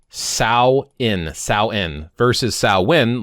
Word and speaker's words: Samhain: And then it talks about here with some of the origins of sah-win, and it says sah-win is pronounced sow-in, sow-in, versus sah-win, like the other site.